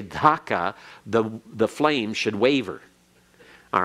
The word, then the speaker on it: Dhaka: of a K, and there is no such thing as an A sound in Bengali, and so it should be Dhaka. In fact, Bengali has 4 Ds. It has, your tongue goes in different positions in your mouth. And the D for Dhaka is a D that goes along the alveolar ridge, that ridge right behind your teeth.